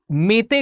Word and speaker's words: Meitei: तो यहां पे एक मेते ग्रुप है, इसको अलग अलग तरीके से लोग प्रोनाउंस करते हैं। एक कम्युनिटी की तरह आप देख सकते हैं या फिर एक एथनिक ग्रुप की तरह आप देख सकते हैं। कुछ लोग इसको मीते बोलते हैं, कुछ लोग इसको मेते